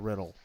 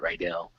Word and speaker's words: Riddle: name, I just assumed his name was Matt Riddell. But A Riddle, lot of fine.